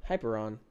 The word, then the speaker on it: Hyperion: I say it right yeah that's it hyper hyperon yeah hyperon Fury actually a pretty nice Mouse